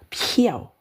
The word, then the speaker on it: 漂: Tulisannya pakai ini, tapi bacanya piao. Nada ketiga. Nah, bisa dibaca piao. Nada ke satu, piao ini mengambang. Piao ini memutihkan. Piao bai. Nah, kalau cantik piao liang, nada ketiga.